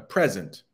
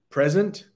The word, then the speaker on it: present: You might receive a present for your birthday. That makes sense, right? So, present, present, present. The first and the last are pronounced the same way.